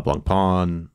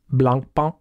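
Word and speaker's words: Blancpain: uh Swatch and uh blun pwn let me just pause you right there yeah no you can't say it and not expect me to interrupt you it's actually pronounced Blan thank you you're welcome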